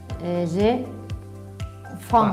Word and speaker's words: faim: tiene que ser nasal. Uy, es muy difícil. J'ai faim. Vale, vamos al truco. Si tú te tapas la nariz, no puedes pronunciar. Mira. Tiene que pasar por la nariz.